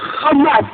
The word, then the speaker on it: Hamas: qui est en je lorsque les Israéliens prononc ramass n'est-ce pas et bien ils savent comme vous moi prononcer le ha mais c'est volontairement qu'il disent RA parce que Ra et ben c'est la négation r quelque chose de extrêmement péjoratif vous savez ce que veut